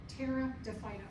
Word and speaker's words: Pteridophyta: The P is silent. Pteridophyta.